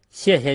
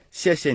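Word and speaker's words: 谢谢: And if you were to say 谢谢 or 客气 as two definite fourth tones, people would still have no problem understanding what you're saying.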